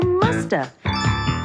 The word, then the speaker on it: must have: We can say must have in conversation. And sometimes we don't pronounce the V. And so you hear musta.